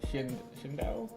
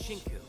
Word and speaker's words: Shinku: Shindao? I think that's how you pronounce it? It's Shinku. Shinku Katsuki. It's Shinku.